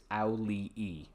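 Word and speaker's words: Auliʻi: I looked up how to pronounce it. I'm fairly sure it's auli'i.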